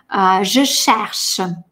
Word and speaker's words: je cherche: «Je cherche». Ну, среднее между «ше» и «ще» такое очень шипящее. «Je», трубочка, «je cherche».